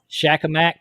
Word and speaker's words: Shakamak: I don't know how to pronounce that one. It's Shakamak State Park.